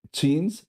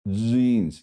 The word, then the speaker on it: jeans: J, que es una como una t muy suave, como una ch. pero sonora, no che, chins, chins, sino jeans.